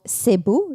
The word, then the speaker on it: Cebu: I know that you were from the Philippines and you were from a city called Cebu. Is that how you pronounce?